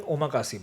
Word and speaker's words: omakase: Ikigai is actually an omakase bar.